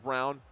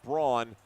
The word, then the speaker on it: Brown: And by the way, Tyler Wilcox says it's pronounced Brown. Kenny Tran saying it's pronounced Braun. I'm with Tyler, especially since I can hear the game right now. And they're also saying Brown.